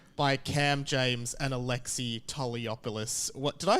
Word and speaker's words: Toliopoulos: And today I have time, and I'm really excited today to be joined by Cam James and ALEXEI Toliopoulos.